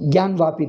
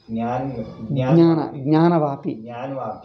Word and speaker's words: Gyanvapi: So you see, Gyanvapi they call it. GY they pronounce it. They write it as Gyanvapi. It should be Jnanavapi. Jnana.